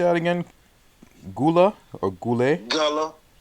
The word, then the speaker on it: Guale: that again gula or goulet well that's how they say it but you know okay the guale society was shattered by